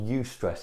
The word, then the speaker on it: eustress: When you're under pressure, and that's called eustress, it's spelled EU and then stress, and that's good stress.